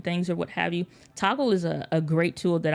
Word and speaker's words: Toggl: So one thing I would recommend, like if you haven't tried it already, is Toggle. It's spelled Togg and the letter L. So it's not Toggle spelled correctly, but if it's just Google Toggl, you can set a timer.